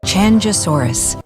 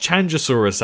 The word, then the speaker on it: Qianzhousaurus: notification as well but today's species is shin shou soros i think that's how you say it my pronunciation has probably been butchered so i'll try not to say it but here is how you actually say it according to the voice over lady chandrasaurus but yes i think it's pronounced chandrasaurus actually and it is actually